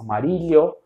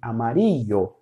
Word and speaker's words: amarillo: Você pode escutar um som de LH em alguns outros países com amarilho ou também uma variação como amarídio, mas a maioria dos países se fala com som de amario, ok?